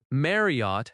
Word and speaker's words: Marriott: Marriott has stress on Mar- -riott.